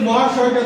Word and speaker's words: মহাশয়: ম আ এরকম উচ্চারণ করে শেষ অকারটা অধিকাংশ বাংলা শব্দে উচ্চারণ হয় না, তাই উচ্চারণ করার সময় আমরা উচ্চারণ করি না, ওই জন্য উচ্চারণটা বোঝানোর জন্য হস্ত দিচ্ছি।